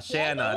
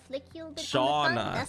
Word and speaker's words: Shauna: Shanna, that makes sense. What did I say? Isn't that what I said? Shauna, that's how you pronounce it.